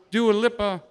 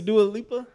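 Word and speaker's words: Dua Lipa: going to do a do a lipper levitating really listen to do a lipa that's how you say it do a looper you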